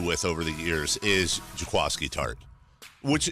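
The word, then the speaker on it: Jaquiski Tartt: over the years is Tchaikovsky tart which it's already an unusual name but I always want to say Jack whiskey tart because that's how it's spelled qu i sk i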